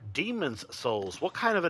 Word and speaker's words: Demon's Souls: Like I would just say Demon Souls. That's how everybody pronounces it. But it's not called Demon Souls. It's called Demon's Souls.